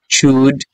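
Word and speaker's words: should: শুড আমরা উচ্চারণ করি আসলে এল এখানে উচ্চারণ থাকবে না এলটা উজ্জ্ব থাকবে তো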